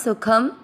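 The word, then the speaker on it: सुखं: शब्द पुराने के बाद ख पे अनुस्वार आधा म सुखम आधा त व पर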